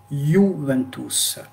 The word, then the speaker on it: Juventus: En italien, on dit Juventus. Juventus. Juventus. Donc, au lieu de le lire ju, on va le lire you. C'est-à-dire, le i est lent. On le prononce i. You, Juventus.